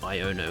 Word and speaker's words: Iono: Iono in um or I guess it's pronounced Iono, isn't it? Cuz it's like IO that's the that's the joke.